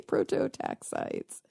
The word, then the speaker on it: Prototaxites: Prototaxites.